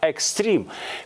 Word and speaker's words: экстрим: недавно из английского языка экстрим пишется е но произносится и естественно в русском языке это слово пишется через и сохраняя исходное произношение слово это совсем молодое